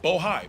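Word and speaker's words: Bohai: rstp to Bravo Rosemont Seneca Thornton Rosemont Seneca boja I want to make sure I pronounce it right bohi b-o-h-a-i and the list goes on and on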